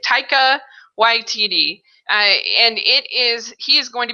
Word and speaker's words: Taika Waititi: Taika Waititi, I think it is. That's how you say it. Taika Waititi.